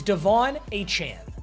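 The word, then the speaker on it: De'Von Achane: By the way, the correct pronunciation is Devon Achane.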